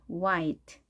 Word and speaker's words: white: 여러분 우어 i 빠르게 와이트 oi teo ite 와이트 와이트 하시구요 우리가 학창시절 때는 이것을 화로 배웠습니다 화 손님들께서 화로 알려주셨는데 잘못된 발음 이었네요 와이트 하십니다 지금도 우리가 화이트 크리스마스